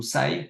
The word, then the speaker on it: SYE: Moi, je le prononce à l'anglaise, voilà, Sai, mais tout le monde est bienvenu.